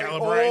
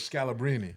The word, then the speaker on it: Scalabrini: sell Scalabrine. all types of different. I feel like names, the man. only way to say that is Scalabrini.